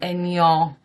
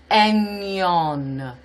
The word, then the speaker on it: Aignan: I live in Aignan, which is pronounced AIG. We say N, but that is, in English you would say egg.